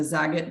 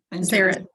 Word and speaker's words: Zarit: Is it the Zagat burden? Zarit. Zarit.